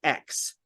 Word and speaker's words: Ecks: Server, and it's X, not like the letter X, but it's ECKS X. I may not be completely pronounced like X, but I keep putting an X in there instead of a K.